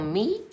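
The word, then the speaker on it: nid: A petit l'oiseau fait son ni. I know you don't pronounce that D.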